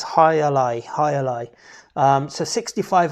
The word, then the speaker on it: Jai Alai: so highlight um and i want to call it jayalai but i'm gonna go with what they say in cigar city bruin it is higher lie not joyalay um maybe that's wrong but the video on their web page um with their marketing uh man on there he clearly says hi ally hi ally um so